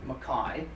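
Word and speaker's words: MacKay: of the book is Donald and makai he pronounced it Makai was a spot he's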